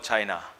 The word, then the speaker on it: Qin: In 200 BC, there was no country called China. China then was divided into small kingdoms, fiefdoms, and it was not united. They were warring states in China. In a small feudal state called Qin, pronounced Chin, the feudal lord or